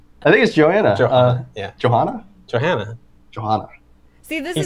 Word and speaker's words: Johanna: Right there. Johanna. Okay. See, I was right. Han. Okay, Han. like Han Solo.